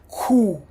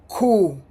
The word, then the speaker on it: q: The next one is, don't get confused with the English, because in English it would be Q. In Italian it's pronounced Q. Q. It's like you, the first letter is a K. It's a hard sound. Q. Like cuckoo, Q.